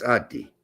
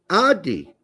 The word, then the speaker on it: Adi: It's Adi Hutter. No, Adi Hooter. Does he pronounce it a different way from that? Adai Hooter. That's Audi. Come on. It's Adi. Adi. It's not Audi.